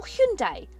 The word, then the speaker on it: Hyundai: about the way that I say Hyundai or Hyundai as they'd like me to pronounce it yes I do know the real way of pronouncing it but I guess